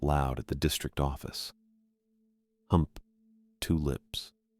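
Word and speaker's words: Humptulips: Hump, two lips. Not how I'd been saying it.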